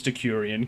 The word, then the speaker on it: Decurion: I'm pretty sure it's Decurion, considering there's no E or I after the C, and I'm just the worst. It's French. There's an umlaut.